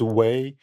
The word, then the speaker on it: Wei: Uh, as David said, my name's Wei. To help people to pronounce my name properly, I always tell people we the only way.